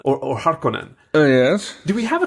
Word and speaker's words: Harkonnen: ] on it is actually cooler than Vladimir Harkonnen or Harkonnen yes do we have a canonical way to pronounce it by the way part conan how